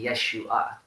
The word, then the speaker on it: Yeshua: other things Jesus's name his name is not actually Jesus according to the that he break my tear election nice the official mothers of tongue reading of how you pronounce his name it's actually Yeshua but you know there's